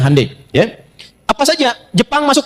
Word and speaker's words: Hyundai: Ya Hyundai saya tahu bahasanya, dibacanya Hyundai.